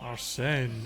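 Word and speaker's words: Arsène: Arsene.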